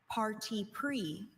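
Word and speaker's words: parti pris: Your word is party pre. May I have all the information? Party pre is the only pronunciation.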